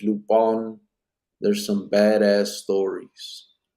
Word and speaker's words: Lupin: are are seen looping gentlemen burglar pronounced lupon there's some badass stories